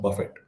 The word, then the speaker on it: Buffett: His name is spelled in a similar fashion, but pronounced very differently. His name is Mr. Buffett.